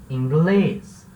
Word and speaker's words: inglês: Então, ingleses vai virar inglês. Mas não parou por aí, porque inglês é uma palavra oxítona, ou seja, a sílaba tônica é a última e termina em S. Então, ele vai levar acento.